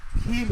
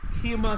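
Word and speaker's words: Kemah: Keem is pronounced Kima Silverand.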